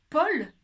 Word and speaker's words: Paul: Pourtant, quand je dis Paul, j'entends pas U. C'est bizarre. Je vous l'écris quand même. On regarde. Paul, ça s'écrit P-A-U-L. Très étrange. Il y a bien un U. Je n'entends pas. Je ne dis pas Ul. Je dis bien Paul.